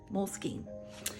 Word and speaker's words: Moleskine: And Moleskine says you can say it however you want, but in the olden days they said Moleskine. So that's what I stick with.